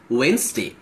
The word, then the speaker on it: Wednesday: Wednesday වගේ තිබ්බට we pronounce it as Wednesday.